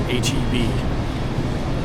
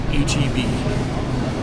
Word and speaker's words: HEB: And here in Texas, the number one grocery store is HB. It's not pronounced Heb or It's HB.